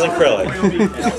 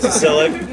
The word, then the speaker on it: Cyrillic: This is acrylic. Cyrillic. Cyrillic. C with the squiggle. Cyrillic.